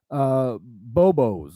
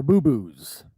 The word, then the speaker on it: bobos: Bobos or boo-boos. Pronounce it however you want. It's B-O-B-O-S. That's a word.